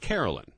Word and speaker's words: Caroline: But she pronounced it Carolyn.